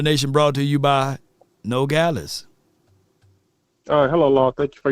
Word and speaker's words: Nogales: Nogales, okay. Nogales, I got Nogales, no glaze, Nogales, tomato.